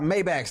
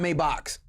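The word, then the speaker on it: Maybach: Hey nigga, I know got I know niggas that got Maybacks, not Maybox. Okay, so I'm going say Mayback.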